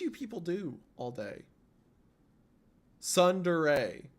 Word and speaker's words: Tsundere: Tsundere. It's pronounced Tsundere.